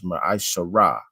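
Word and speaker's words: מעשר: It means the 10th in the Hebrew, and you pronounce that as Ma'asharah.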